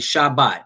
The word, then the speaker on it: Shabbat: The Shabbat.